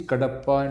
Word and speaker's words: Kadapa: kadapa is headquarters but the spelling is different because the britishers used to pronounce it as Kapa Okay so so it